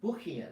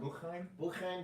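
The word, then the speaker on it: Boukhiam: How do you say his last name? Bukian. It's not Buchheim. Bukian.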